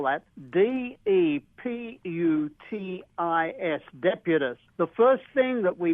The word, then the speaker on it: Deputus: And so the name of the meerkat is Deputus. Let me spell that. D-E-P-U-T-I-S, Deputus.